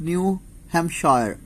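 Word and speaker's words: New Hampshire: प्रॉडिजियस hill tops of न्यू हैम शयर P silent कर दे इसमें तो वह क्या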